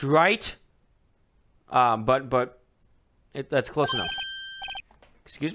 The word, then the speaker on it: Wright: Look at that. White. It's okay. It's pronounced right.